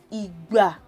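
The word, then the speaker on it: ìgbà: So when you pronounce igba is time, you would know that do is what you need to put on the two syllables.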